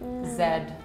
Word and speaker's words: Z: maybe the difference is the way we pronounce like the actual Z Zed like yeah right like so how do you guys say that letter like when we read the alphabet we just say Z yeah yeah what about